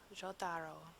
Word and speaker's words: Jotaro: It's like, okay, I just have to roll the J, Jo, because it sounds much better. I mean, Ja and Jo are definitely different. So, Jotaro.